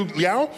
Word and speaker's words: Liao: And we have Liao. Did I pronounce that correctly?